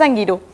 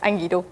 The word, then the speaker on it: Angirû: parte de angiru que no bueno es angiru en realidad pero nosotros des desde el principio le decimos angiru y nos quedó esa mala costumbre pero es angiru se pronuncia así y qu tiene un